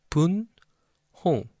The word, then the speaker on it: 분홍: 분홍. So these two syllables has the final consonant.